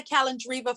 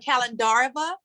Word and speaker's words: Kalandarova: By the way, guys, she has let me call her Marina Kalandriva for like ever. And her last name is Kalandarova.